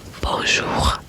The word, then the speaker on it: bonjour: learn will be bonjour which means good day don't know such as your teacher or something like that, you say. You don't spell the N. You just say bon which means good and means day.